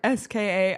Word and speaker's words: SKA: Do you say SKA or do you say SKA? You pronounce the letters. Okay. St. Petersburg SKA of the KHL.